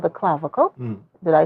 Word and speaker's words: clavicle: I think it's called the clavicle.